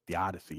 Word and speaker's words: theodicy: opposed to a theodicy I think I'll pronounce that a few different ways but the Odyssey is the correct pronunciation so I saw Brian